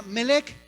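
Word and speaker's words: מלך: Esta otra palabra es una palabra griega que se pronuncia melech y significa rey o reino. La palabra melech significa rey o reino.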